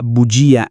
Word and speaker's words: bugia: For words ending in cia, gia and scia where the I is stressed, for example farmacia, bugia and scia, here the I is a real sound. It's heard in the singular and must be retained